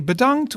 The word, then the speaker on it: bedankt: be predomed so in dutch we would say badangt which means thanks badant is good in almost any situation and it's